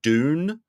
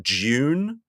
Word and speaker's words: Dune: Dune, not June, which is the correct way to say it.